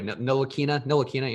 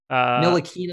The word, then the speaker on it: Ntilikina: Ntilikina. Yeah, that T doesn't exist when you try to say it. Ntilikina.